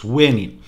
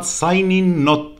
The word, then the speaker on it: Synin: raven is known as Synin and it is pronounced Suenin. Not Sainin and not Sinin.